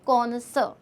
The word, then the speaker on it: connoisseur: अब कॉनसर, आप इसका प्लीज़ प्रोनाउंसिएशन सही रखिएगा, कॉनसर।